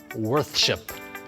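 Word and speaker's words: weorþscipe: my rotator cuff ah the actual old english spelling was written and pronounced worth ship worth ship try saying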